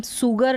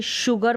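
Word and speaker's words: sugar: जैसे कि शुगर में देख सकते हैं हम सुगर नहीं पढ़ते, शुगर पढ़ते हैं, जो चीनी है, कभी भी सुगर नहीं पढ़ा, शुगर।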